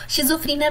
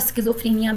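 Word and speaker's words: schizophrenia: Wrong pronounce करी हूँ, शिज़ोफ्रेनिया भी इसको पढ़ा जाता है और स्किज़ोफ्रेनिया भी। That is अ US pronunciation and UK।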